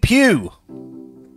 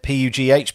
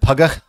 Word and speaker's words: Pugh: Steve Pugh. I think that's how you pronounce it. P-U-G-H, Pugh. I'm going with Pugh. Dean would have said Pugger, because he has a pronunciation issue.